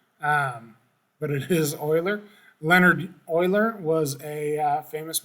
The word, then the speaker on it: Euler: ciphers for the decryption it becomes euler it's pronounced euler it looks like euler um but it is euler leonard euler was a famous mathematician he's got